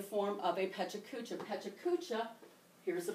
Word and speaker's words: Pecha Kucha: Pecha Kucha, here's the pronunciation, is a PowerPoint presentation set to a timer.